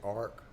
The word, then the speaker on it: Arrick: And again, the Arick spelling variation from Orrick is because they pronounced it Ark, and Margaret didn't know really how to spell it, so she kind of went with Arrick.